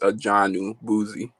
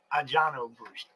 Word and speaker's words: Adjanu Bouzi: How do you actually pronounce it? So it's Adjanu Bouzi. Adjanu Bouzi.